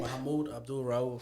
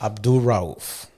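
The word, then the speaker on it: Mahmoud Abdul-Rauf: Mahmoud Abdul Rauf. Abdul Rauf.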